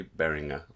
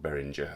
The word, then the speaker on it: Behringer: synthesizer behind me which a german-speaking person told me how to pronounce the name only recently bearing a not behringer as I've been calling it all my life this barring a model